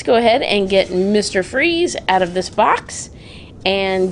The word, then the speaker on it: Fries: right there Victor freeze freeze which is spelled like fries freeze but yeah they spell it fries so it's not just like obvious very cool all right